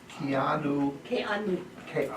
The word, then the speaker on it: Keanu: Keanu. He has a Hawaiian name, for Pete's sake. You have to pronounce all those vowels.